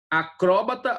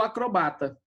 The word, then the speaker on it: acróbata: Olha só, existem palavras que admitem dupla pronúncia, né? Por exemplo, xerox ou xerox, né? Acróbata ou acrobata.